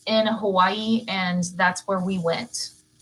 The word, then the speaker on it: Hawaii: all the natives so the w makes a v sound so it's actually they actually say it's hawaii that's how it's pronounced hawaii so they could tell we were from texas very quickly okay number 14.